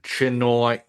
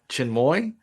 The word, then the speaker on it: Chinmoy: And John, real quick, you also have another very interesting race which I'm going to pronounce wrong, but I know I've seen it talked about. Sri Chinoi Chinmoy.